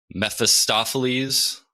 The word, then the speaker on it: Mephistopheles: It is Mephistopheles' bargain. That's yes. how you pronounce it.